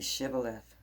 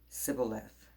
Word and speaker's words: shibboleth: would say to him then say shibboleth and he would say sybil left for he could not pronounce it right then they would take